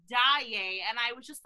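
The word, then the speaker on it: Daaé: is she even here they mispronounced christine's last name they call her day instead of daiye and i was just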